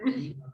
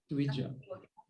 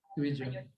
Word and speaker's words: Dvija: It's not Dviha Priya, it's Dvija. Dvija. So when they read it in writing, they'll say Dviha because that's how in Spanish J is pronounced H.